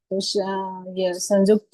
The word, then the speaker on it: संयुक्त: संजुक्त आधा क और त है तो संजुक्त संजुक्त नहीं होगा ऐसे संजुक्त होगा मतलब आधा क हमें उच्चारण करना और त तो क को छोटा उच्चारण करना है जल्दी से उच्चारण करता है संजुक्त और स में बिंदु लगा है उसे न के जैसा पढ़ते हैं जैसे चंदा पे पढ़ा संयुक्त हुआ ऐसे ही तो ये